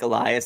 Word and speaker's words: Elias: that in my head I had the same thing with Mike Elias I thought it was Ellas for a while and I would mix